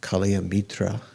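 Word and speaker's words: kalyāṇa-mitra: it's a translation of the sanskrit i think pronounced kalia mitra virtuous spiritual friend so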